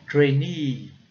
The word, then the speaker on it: trainee: vez de falar estagiário, eu falo trainee, trainee, trainee, muito destaque para a sílaba, né, final.